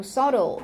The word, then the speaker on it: subtle: 얘는 발음할 때 subtle이 아니고 subtle 이렇게 발음해.